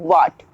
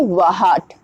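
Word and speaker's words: what: कि होता है घंटा वट जैसे ही हमने डब्लू के बाद हमने एच का इस्तेमाल किया क्या हो गया एच हमारा साइलेंट हो गया वट ना कि वाहट ओके नाउ नेक्स्ट इज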